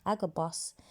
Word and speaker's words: Agabus: say AG a boss that's how you you pronounce it agabus a Christian Prophet so I went to go